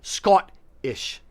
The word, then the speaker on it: Scottish: actually Scottish you're saying the O like ought so you're saying Scottish and you're having a hard guttural stop a hard guttural tea like skull ish so you're kind of separating the word into two halves um Americans tend to